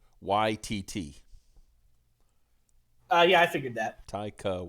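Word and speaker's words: Waititi: Okay, so Raptro says it's pronounced Taika YTT.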